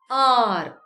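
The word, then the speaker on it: hour: it is spelled as h-o-u-r but it is pronounced as r not hover the sound r is vowel sound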